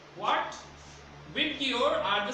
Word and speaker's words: VIBGYOR: The pronunciation of this abbreviation is VIBGYOR. What? VIBGYOR are the 7 colors of the rainbow.